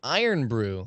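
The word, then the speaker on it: Irn Bru: It's pronounced Iron Brew.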